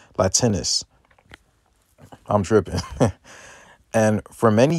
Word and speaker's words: Latinus: Latinius. Or not Latinus. Excuse me, I said it wrong. Latinus.